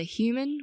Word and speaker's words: human: In this case, either human with stress on the first syllable or humane with stress on the second.